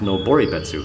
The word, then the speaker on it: Noboribetsu: It's pronounced Noboribetsu.